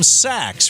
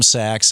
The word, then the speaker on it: Sacks: tweet him at Sachs and it's pronounced it's spelled rather s c KS not as in Goldman Sachs but as in you know a bag or something you know that is